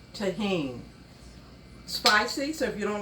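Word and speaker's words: Tajín: our corn is is tahen the J is silent so it's pronounced tahen spicy so if you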